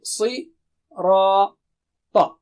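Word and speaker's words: صراط: Okay, si, ra, ta. So when we do the syllable practice, you can remember these signs so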